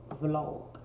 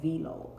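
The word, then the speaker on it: vlog: and that's another thing I know that it is pronounced below I am choosing to say V log because I'm choosing to do something different instead this video will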